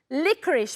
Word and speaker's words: licorice: Licorice. Be very, very careful with the pronunciation, okay? Es como si tuviese una SH al final.